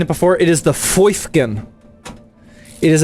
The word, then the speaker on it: Foifkin: Foifkin. Yes, that is how you say it.